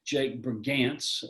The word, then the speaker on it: Brigance: The real inspiration was Jake Brigance, that you did pronounce it correctly.